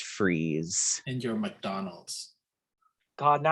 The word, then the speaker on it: Fries: mr fry's says fries it's spelled fries but it's pronounced freeze and your mcdonald's god